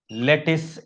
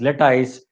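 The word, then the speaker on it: lattice: The energy release during the formation of this लेटाइस is known as लेटाइस energy और लेटिस energy. दोनों pronunciation correct है, लेटिस बोलो या लेटाइस बोलो, है ना।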